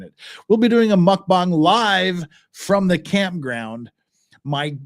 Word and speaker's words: mukbang: fashion eating mukbang or it's like it's pronounced mukbang in Korea you probably couldn't tell the difference in the pronunciation but there was one mukbang literally means like eating